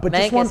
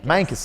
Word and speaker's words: Mancos: But Mancos, you got to say it like you're a cowboy. Mancos, like Prescott.